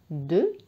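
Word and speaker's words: deux: بعد الواحد après le 1 nous avons 2. Donc 2. Alors 2 يكتب D E U X. الإكس لا ينطق، هو حرف صامت.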